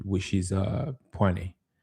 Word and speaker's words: poena: I think this uh you probably but it's I guess almost if you pronounce it fast, poena.